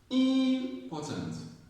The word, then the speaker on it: important: The syllable that's higher is rising. The other ones are just there. They're just flat. The stress syllable goes up like important.